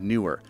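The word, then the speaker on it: Neewer: This is a little clamp from the brand Newer. That is how you pronounce it, by the way.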